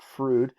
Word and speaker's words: Froude: bit earlier it's spelled it looks like Froude it's as far as I know it's pronounced frood Dutch I believe was